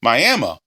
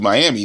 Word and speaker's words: Miami: Apparently, is how it's pronounced. Miami, Oklahoma. Not as opposed to Miami. It's spelled Miami, but it's pronounced apparently Miami, Oklahoma.